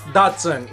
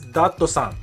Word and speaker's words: Datsun: n2 da TSU and which today is called dad no son not Datsun in Japan Datsun is doctor son next up we have